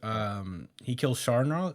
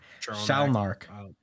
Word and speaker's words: Shalnark: He killed Sharnark. The gang kid. Sharlnak. I don't know why I can't say his name. Shalnark. Shalnark, yeah.